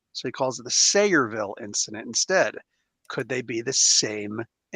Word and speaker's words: Sayreville: No, they also mentioned uh the Say Revel incident. What's that, Conrad? Hmm. I was gonna say it's pronounced Sayreville, but Sayreville.